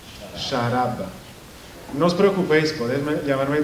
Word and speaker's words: Sciarabba: El apellido se pronuncia Sciarabba. Sciarabba.